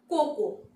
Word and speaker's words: cocoa: দেখে নি পরেরটা কি আছে, Is it cocoa or coco? C O C O A. এখানে A এর উচ্চারণ হবে না, The word is coco, coco. And the British accent is coco, coco.